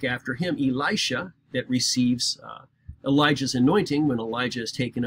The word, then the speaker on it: Elijah: by the name of Elijah or if you want to say it correctly as le yah but Elijah does some